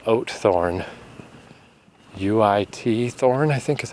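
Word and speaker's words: Uithoorn: I was staying in a place called Ootthorn. U-I-T Thorn, I think is how it was spelled, but it's pronounced Ootthorn.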